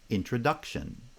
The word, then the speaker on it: introduction: bi-slavic feet words like introduction introduction and architecture architecture so the stress patterns are different because introduction has primary stress on the second foot and architecture has primary stress on the first foot but within each bisyllabic